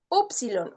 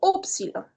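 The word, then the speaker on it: ípsilon: lleva yon o y, hay diferentes formas de pronunciar esta letra. Yilon o yil se le puede decir. Para no confundirlo con la iota, usualmente yo prefiero pronunciarla como silon para no confundir estas dos vocales en el griego, pero hay muchos expertos que van a pronunciar la silon como yilon.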